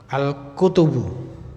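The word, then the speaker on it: الكتب: Al-kutubu tanpa alif ya. Al-kutubu tanpa alif, bacanya kutubu. Kalau ada alifnya al-kitabu mufrad. Kalau jamak al-kutubu.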